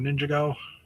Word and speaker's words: Ninjago: it kind of covering the 15 years of Ninjago or Ninjago as some people pronounce it.